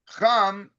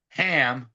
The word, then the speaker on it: Cham: And Cham, or as they say his name so wonderfully in English, Ham, right?